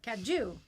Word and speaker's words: caju: Caju. It's a Spanish, Portuguese, so the J is not a J, right?